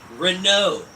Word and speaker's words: Renault: person Renault the T is silent because it's French yes does that have